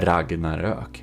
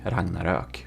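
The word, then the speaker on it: Ragnarök: say before was that I'm one of very few YouTubers aka Swedish one who has the proper pronunciation of the name of this ship because the original builder Robas of the Ragnarok he is Swedish and um it's called the Ragnarok. Ragnarok. Okay, if you want some pronunciation, there you know. And the O with two dots, that's an H. It's not an O with two dots. That's heretical, by the way.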